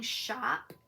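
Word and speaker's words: Shoppe: it is diamond painting shop and shop is spelled s-h-o-p-p-e and they're a company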